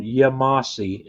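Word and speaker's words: Yemassee: This place is on Interstate 95, and it's in a town in South Carolina called Yamasi, and that is spelled Yemasse.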